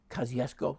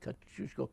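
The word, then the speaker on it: Kościuszko: the big thing for Kosciuszko no Cusco Kosciusko it's also pronounced but Cusco is the correct post pronunciation he's very effective as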